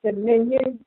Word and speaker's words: simian: Recent discovery suggested the virus probably caused from chimpanzees and other non-human primates infected with this is pronounced Simian, Simian, infected with the Simian form of HIV called